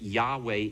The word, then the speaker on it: Yahweh: But what happened was they said, okay, instead of pronouncing the name Yahweh, and that Yahweh is probably the best, I'd say 75% or more of Hebrew scholars, whether they're Jewish or whether they're Christian in name only or whether they're truly born again, would agree that Yahweh is the correct pronunciation of the title.